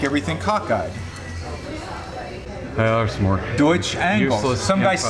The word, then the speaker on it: Deutsch: It's a mispronunciation of Deutsch.